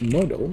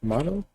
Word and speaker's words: modal: Model? No. Modal. Yeah. Like that. Okay. Modal. There we go. So modal based. I forgot how that one was spelled. Editor. Modal based editor.